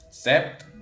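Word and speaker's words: sept: ninguna regla en específico SEP tampoco sigue ninguna regla en específico Simplemente no suena la p porque no Uy Ok en el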